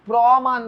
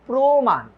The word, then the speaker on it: প্রমাণ: তুমি লিখবা, এটা তো প্রমাণ বলো না, তুমি বলো প্রমাণ, প্রমাণ।